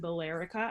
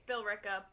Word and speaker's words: Billerica: yeah kind of right it's bill rick up but sorry i'm also